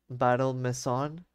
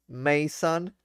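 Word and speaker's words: Battle Maison: that was called uh I'm pretty sure now that you would pronounce it battle battle misson but it was reading like like m a i so I thought it was like oh it's like mansion so it's probably like Mason or something like that but it was not people made fun of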